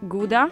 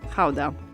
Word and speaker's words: Gouda: Depending on whether you're a native, you will pronounce it either Gouda or Gouda. So since we're talking about authentic Dutch cheese, we're going to call it Gouda.